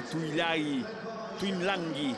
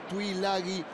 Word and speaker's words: Tuilagi: La cámara que se queda con Manu Samoa Tuilagi, como se pronuncia realmente en su lengua natal, con una N que no existe, que no está escrita.